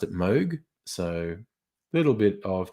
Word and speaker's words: Moog: the name looks like moog uh he actually pronounced it moog so a little bit of trivia um that uh the synth creator's name is actually pronounced moog so there you go um oh god people